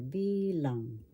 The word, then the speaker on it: bilang: accent is in the first syllable B lang number and the tagalog